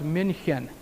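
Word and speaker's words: München: the Munich Germany area Munich of course in German is pronounced Minchin and he'd go into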